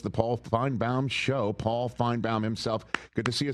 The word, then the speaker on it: Finebaum: Paul Finebomb himself.